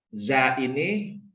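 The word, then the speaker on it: زاي: Selanjutnya isim abjad za atau isim abjad zai, ya tulisannya iaj, ini dibacanya zai.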